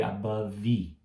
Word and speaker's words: above: Outro exemplo, above. Above. V. Parei no V, não falei above. Então, above. Parei no V.